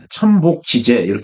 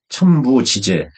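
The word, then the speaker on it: 천부지재: 이게 이제 자평진전식 표현인데 적천수에서는 천관과 지지를 흔히 천복 지재 얘기를 하죠. 하늘은 땅을 덮어 주고 땅은 천간을 실어 준다. 그게 천복지. 그게 정확하게 읽으면 복이 아니라 발음상 부라고 읽어야죠. 천부 지재 나오는 그렇게 읽어야 제대로 되는 건데 적천수에서는 흔히 천복 지재로 이야기를 하죠.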